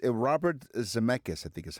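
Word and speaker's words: Zemeckis: Uh, I think it's Robert Zmechus, I think, is how it's Zcchus. Zamechus. That's it. That's right. Here's how this is pronounced.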